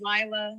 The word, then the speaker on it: Lila: Hi, my name is Lila. Lila. How you say it? Lila.